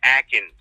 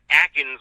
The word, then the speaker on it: Akins: Go ahead and click watch on this player, Jordan Akins. Not Atkins like the Atkins diet. There's no T in there, but it's Atkins. It's spelled like Akins.